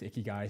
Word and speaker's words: ikigai: And it's Ikigai, so I definitely said it wrong on stories.